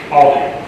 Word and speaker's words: Aldi: Is it Aldi or Aldi? Aldi.